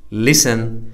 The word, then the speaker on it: listen: Fetch, Stretch, Scratch, Hatch It is also silent in the following words. What are the words that are PTT silent? Whistle, listen, castle, often, Christmas, wrestle, fasten, mustn't, T is silent.